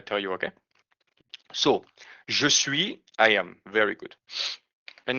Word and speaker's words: suis: Je suis, I am. Remember, we don't pronounce the S in the end.